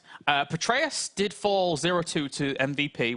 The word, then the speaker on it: Petraeus: Petraeus.